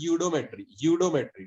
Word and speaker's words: eudiometry: In audiometric यूडोमेट्री, इट is pronounced as यूडोमेट्री, ठीक।